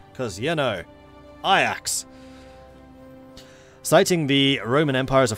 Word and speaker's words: Ajax: so encroach yeah I'm saying the Dutch way I axes the Dutch way of saying yeah I know Ajax is the hero but we're playing is the Dutch right now so I'm allowed to pronounce it the Dutch way after the Dutch Football Club cuz you know I